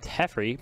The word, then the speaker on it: Teferi: And then the Corsair went at Teferi, preventing him from alting. But it probably will be only It's at Justin pronounced next turn.